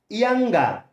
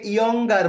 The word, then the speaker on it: younger: তারপর আছে ইয়াঙ্গা, ইয়াঙ্গা, এখানে আর একটি silent letter, okay. For British pronunciation R must be silent ইয়াঙ্গা, ইয়াং, অনেকে এটাকে ইয়ঙ্গার বলে থাকে, এটি উচ্চারণ হবে ইয়াঙ্গা, ইয়াঙ্গা, ইয়াঙ্গা, ইয়াঙ্গা, ইয়াঙ্গা.